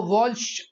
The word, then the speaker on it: Walsch: Spelling है वॉल्श के last में सी एच है, WALSCH। बच्चों को क्लेरिफाई कर देता हूं भाई, WALSCH, इसको वॉल्श बोलते हैं भाई, साथ में च लगता है प्रोनाउंसिएशन में, वॉल्श इंडेक्स मेथड।